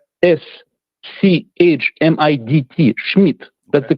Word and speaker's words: Schmidt: Uh the the correct pronunciation is the Germanic way. It's not Smid, it's Schmidt. Okay. S C H M I D T.